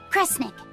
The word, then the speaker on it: Kresnik: If you read this part as Snira, then it means should do. But if it's a snick, then it means don't do. The other word attached to it is pronounced cre. Which of those first two readings feels right to you? Sound it out. Cre, Snira, Cre, Snick. Kresnik. Kresnik feels right somehow.